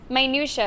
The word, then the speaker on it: minutia: It's not how it sounds. Minutia, that's how you say it.